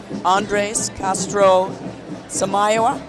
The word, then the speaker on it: Andrés Castro Samayoa: Next we have one of the marshals of the class of 2010, Andres Castro Samayoa. Did I pronounce it right?